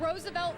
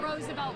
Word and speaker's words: Roosevelt: I need Roosevelt Colvin.